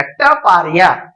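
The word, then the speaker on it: Taparia: पहले नाम बताता हूं इस टूल कंपनी का टपारिया स्पेलिंग देख लीजिए टी ए पी ए आर आई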